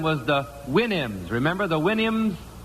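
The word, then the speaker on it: Houyhnhnms: Remember the Winnims? Supposed to pronounce it like you do a horse's whinny, I think.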